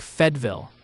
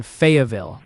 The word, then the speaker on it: Fayetteville: They're saying it's more like Fedville or even Fayetteville with that quick middle.